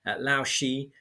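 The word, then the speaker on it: Lao She: Lao Shi was a famous playwright. Lao Shi is spelled L-A-O. She is S-H-E.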